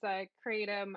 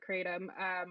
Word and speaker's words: kratom: And of course, there's 1,000 different ways to pronounce kratom. You know, whether you're talking about the indigenous pronunciation or in the States, we call it kratom, but kratom, ketum, all those kind of things.